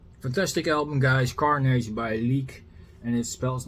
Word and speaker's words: Lik: Carnation by leak and it spells like L I K. So you expect to say it lick but it's leak is the Swedish way of pronouncing the word corpse.